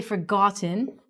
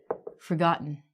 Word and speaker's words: forgotten: We don't say forgotten, we say forgotten.